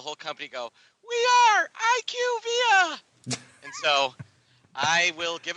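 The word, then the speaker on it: IQVIA: and found out that they're called IQ via that is nowhere near that is nowhere near is fun iqv doesn't even make sense you can't pronounce the first two letters and then the rest of the word gentically that's not how it works but that that's what it is it is IQ via they literally had the whole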